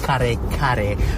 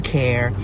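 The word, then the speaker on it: kare-kare: So, I made a big batch of what's called kare kare. But if you look at the name of the dish, it's spelled with K-A-R-E and a K-A-R-E.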